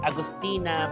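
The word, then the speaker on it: Augustiner: So this is how how you pronounce it Agustina but the spelling is Agustiner. So Agostina.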